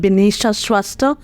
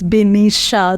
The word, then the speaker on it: Binisha: name uh I am bisha lots of people ask me my pronunciation so it's bisha it's pretty easy actually and then um I'm